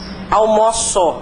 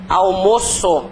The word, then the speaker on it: almoço: eles têm pronúncia diferente se é o verbo como é que fica a pronúncia dele eu almoço a pronúncia aberta né agora substantivo ou almoço a pronúncia é fechadinha